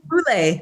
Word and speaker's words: Boulé: Boulé. Boulé.